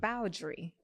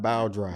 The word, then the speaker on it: Bowry: the first one dang how you pronounce it bowry bow bowry Not Bow dry Not Bow dry Not Bow dry bowry bowry yeah okay this is